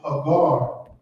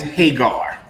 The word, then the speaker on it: Hagar: Why is Havar being compared to the covenant? Okay, where are we at again? Galatians 4. That's Hagar. That's how we pronounce it in the UPK at least. Hagar.